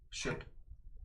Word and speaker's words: Shough: Shook.